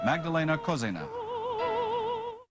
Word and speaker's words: Magdalena Kožená: Did I pronounce your name right? Yes, you did.